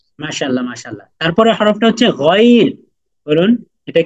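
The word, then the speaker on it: غين: আইন আইন আইন মাশাল্লাহ মাশাল্লাহ তারপরে হরফটা হচ্ছে গইন বলুন এটা কি গাইন আইন গইন হ্যাঁ মাশাল্লাহ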